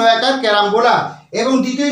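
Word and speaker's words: carambola: এ আর এ এম বি ও এল এ ক্যারাম্বোলা তার Bangla pronunciation কেমন হবে ক জফ আকার র আকার ম বয় আকার ল আকার ক্যারাম্বোলা এবং দ্বিতীয় যে বানানটা কি আছে স্টার ফ্রুট এস টি এ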